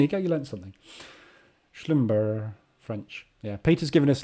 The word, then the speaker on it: Schlumberger: Pronounced with a soft G, Peter says. Schlumber. Is that what you mean? So it's not Schlumberger.